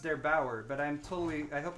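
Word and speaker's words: der8auer: yesterday by I believe his name is pronounced there Bauer but I'm totally I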